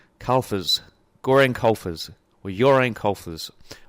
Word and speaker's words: Carlfors: Carlfors.